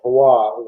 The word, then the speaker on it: Roy: When you have the depth down the middle, Matthews, Tavares, Roy, or Roy, I'll use a French pronunciation, and Lawton.